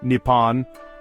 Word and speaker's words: Nippon: The name first appeared in Chinese documents during the 7th century and the Japanese adopted it themselves with Nepon and Nihon both being acceptable pronunciations.